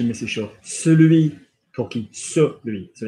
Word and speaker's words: celui: Good, just a little bit of attention on the pronunciation, Mrs. Shaw. Celui pour qui? Celui.